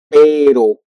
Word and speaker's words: pero: And when you want to use only one R, you will use it like better. Pero, ro, ro, ro, ro.